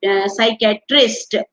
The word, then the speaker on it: PSYCHIATRIST: पी से answer, P से शुरू होता है और होती स्पेलिंग SYCH, साइकेट्रिस्ट। तो और उसको पी से स्टार्टिंग होती है, पी इसमें साइलेंट रहता है। तो ये होगा आर का आंसर 15th। साइकेट्रिस्ट। क्या बोलेंगे? PSYCHIATRIST को साइकेट्रिस्ट। पी is silent in this.